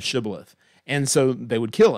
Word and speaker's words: shibboleth: of traditional speech impediment they would say sybileth instead of shibboleth and so they would